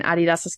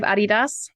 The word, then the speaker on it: Adidas: of money so we'll start with Adidas or Adidas as it's pronounced in American let's go with the German pronunciation because I think that's probably the right way thank you yeah so